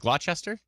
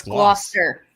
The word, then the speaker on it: Gloucester: I said glow whoops GLA Chester is it glot Chester someone says Gloucester Gloucester tell me if I'm